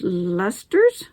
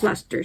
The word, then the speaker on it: Leicester: Pronounced Leicesters? There we go. Pronounced Leicesters.